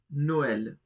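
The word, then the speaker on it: Noël: Another very famous one is no l. Noel, which means Christmas.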